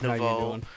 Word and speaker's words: nouveau: Yes, Matt's pronounced nouveau. It's French for new.